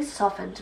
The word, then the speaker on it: soften: my moisturizer has really softened my skin pay attention to the pronunciation here soft we say that at the end but soften we don't soften thick thicken what did